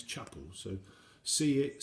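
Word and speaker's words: Csepel: know somebody that do it and you actually pronounce chapels so see it see spel i think it is which is to me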